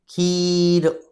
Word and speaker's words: खीर: ठीक है, और अगर हम बोलेंगे खीर, तो हम कैसे बोलेंगे? इसको बड़ा बोलेंगे, खीर, खीर।